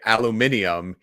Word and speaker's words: aluminium: The difference is that the UK say aluminium, even though it's spelled the same.